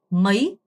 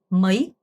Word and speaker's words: mấy: 그리고 발음하실 때 뭐이 아니고 mấy, mấy 어가 짧고 y에 강세를 주는 발음입니다. vào ngày mấy 이렇게요.